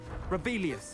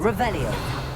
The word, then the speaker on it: Revelio: Rebellious. You're saying it wrong. Ugh, Revelia. Much better. Revelio.